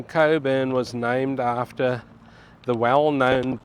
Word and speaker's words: Cockburn: names for suburb because it's spelled cockburn but it's pronounced Coburn now there is